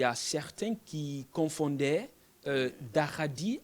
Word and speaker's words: Dahaadi: Bon, chacun prononce à sa manière, mais la vraie prononciation, c'est Daradi. C'est ça la vraie prononciation.